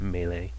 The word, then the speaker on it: melee: melee uh which that's how you say it melee um and um so and you try and